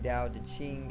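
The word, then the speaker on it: Tao Te Ching: i n g okay and um basically the dao de ching it introduces us to the way which is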